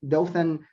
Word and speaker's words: Dothan: He joined in 2011 the Dothan. Is that correct? Am I pronouncing that correctly? Yes, Dothan Downtown Redevelopment Authority.